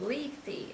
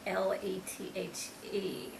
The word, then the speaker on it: Lethe: and that was called Lethe, Lethe. I hope I'm pronouncing it correctly. And that's like, the word lethargy or lethargic, when you're sleepy. That's where the word comes from, Lethe, the river of forgetfulness.